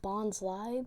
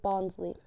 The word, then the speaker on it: Bonsly: I know it's pronounced Bonsly because that's literally what the tree from Sudowoodo and Bonsley are based off of, but I just pronounced it Bonsley.